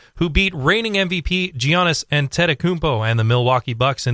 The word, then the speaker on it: Antetokounmpo: Take me through it syllable by syllable. Giannis. Antetokounmpo. Antetokounmpo.